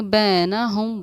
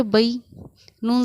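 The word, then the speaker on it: بينهم: हम बै, बहुत से लोग इसको पढ़ेंगे बैना हम, बट नो, this is wrong pronunciation. आप पढ़ेंगे इसके बा या ज़बर बई, नून ज़बर न, बई न, हा मीम पेश हम।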